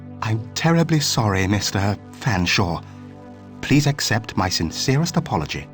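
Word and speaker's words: Featherstonehaugh: I don't believe you cannot pronounce my name properly. It's Fanshaw, but it it's a talking cat.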